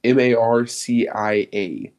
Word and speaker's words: Marcia: I don't know how to pronounce that name. It's Marcia.